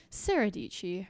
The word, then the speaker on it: Dietschy: It's your girl, Sarah Dietschy, rhymes with peachy.